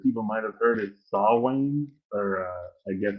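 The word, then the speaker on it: Samhain: for halloween that people might have heard is saw wayne or uh i guess it's spelt completely differently from how it's pronounced so it's spelled s-a-m-h-a-i-n but it's pronounced sawing so if you're into the pulp or uh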